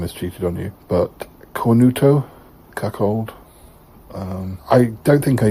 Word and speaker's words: cornuto: Did I pronounce them anywhere near how they're supposed to be pronounced? Mezzasega and cornuto are correct.